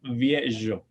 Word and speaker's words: viejo: entonces en español viejo pero el latino viejo bien y finalmente la zeta